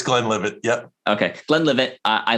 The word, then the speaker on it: Glenlivet: My go-to is Glenlivet, and I could be pronouncing it wrong, but it is what it is. It's Glenlivet.